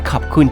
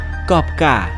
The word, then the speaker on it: ขอบคุณ: มา บอก ไว้ ว่า การ ออก เสียง กอบ กะ ไม่ ถูก นะ ต้อง บอก ว่า ขอบคุณ ค่ะ อัน นี้ ถูก แ ง กัน บ้าง